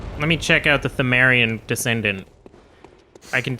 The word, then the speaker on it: Pthumerian: So I think it is pronounced Pthumerian then, because Tumeru? yeah, it's To. To is the first symbol in Tomeru. Japanese. So it's Tomeru.